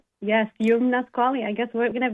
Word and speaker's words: Youmna Squalli: So, I want to make sure we get the pronunciation correct. I love it. It's Yumnasquali. Yum. Yes, Yumnasquali.